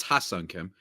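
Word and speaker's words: Ha-Seong Kim: Firstly, I want to just say before the Padres fans get mad at me and potentially you, it's Ha-Sung Kim, just to pronounce it correctly.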